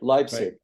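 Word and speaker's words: Leipzig: in East Germany yeah leig leig right leig and that there were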